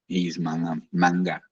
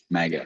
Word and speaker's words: MAGA: So he's manga. How do you say it? MAGA.